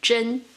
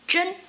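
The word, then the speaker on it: 甄: Zhen, its meaning is selection, or tell something from something. It has the exact same pronunciation as another character, Zhen, truth, real.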